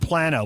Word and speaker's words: Plano: Hey, we got Texans pronouncing it Plano and Plano.